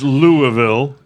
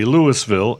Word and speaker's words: Louisville: can complain or all of them can it's lville AKA Lewisville AKA unless it's the rock and roll one